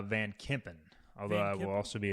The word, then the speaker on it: Kempen: So I I think that's his replacement as it comes for how do you say Van what's his second I think it's uh Van Kempen although I will also